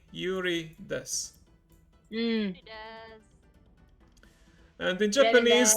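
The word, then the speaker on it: です: So yeah, Raven desu, Yuri desu. And sometimes some sounds, especially if it ends in an U, like the TSU, SU, the U is kind of silent.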